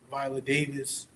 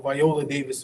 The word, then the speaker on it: Viola Davis: going to say is one um one actress Violet Davis or Viola Davis pronouncing her name wrong I want to make